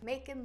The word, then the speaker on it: Macon: Oprah episodes were typically shot in Harpo Studios in Chicago, Illinois, but for this special episode, Oprah filmed in Macon, Georgia. Macon like bacon.